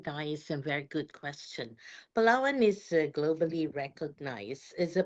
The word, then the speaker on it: Palawan: So, you know, we just want to have a conversation with you, talk to you about, is it Palawan, Philippines, if I'm pronouncing it Yes.